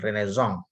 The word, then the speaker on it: Renaissance: Ini sengaja digaungkan pada masa Renaissance atau Renaissance ya, bacanya tulisannya Renaissance tapi dibaca secara alfabet Prancis itu dengan Renaissance.